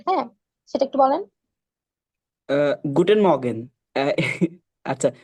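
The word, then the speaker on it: Morgen: আচ্ছা, মর্গেন আর এর উচ্চারণে ঠিকঠাক হবে মানে আচ্ছা, এমনি যদি গুটেন আমি মর্গেন বলছি, বলি মানে একটু উচ্চারণে। আচ্ছা। হ্যাঁ আমি এটা বলি। কিছু কিছু ক্ষেত্রে জার্মান, কিছু কিছু ক্ষেত্রে না, প্রায় 90% ক্ষেত্রে আর এর উচ্চারণটা হয় না।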